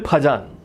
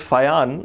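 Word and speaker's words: Fajans: People call him Fajan. If anyone calls me Paul, I will slap them in the face. He was a French scientist, so it's pronounced Fayan. I'll use the name Fayan from now on.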